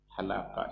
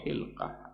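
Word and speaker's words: حلقة: bal Daf memakai alhalaqah halaqah itu atau hilqah apa bacanya sini Yang Le pas itu halaqah biasa dibaca itu artinya cincin memakai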